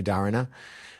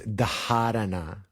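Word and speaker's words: dharana: The H is a an aspirated sound that is pronounced even so it's spelled d h a r a n a sometimes you hear people say dana more technically you say it's darana anyway the um dhara is like is is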